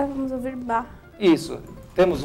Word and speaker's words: Bach: Johann Sebastian Bach, e a pronúncia é como se fosse bar, dita por um carioca, Johann Sebastian Bach.